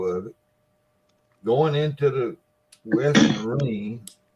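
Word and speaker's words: West Marine: it going into the western marine which he still ain't pronounced right he calls it west marina and he had you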